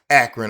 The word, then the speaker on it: Akron: Akron, Ohio.